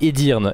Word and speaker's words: Edirne: la ville d'Edirne pardon non pas ednir c'est edirn excusez-moi attendez voilà donc comme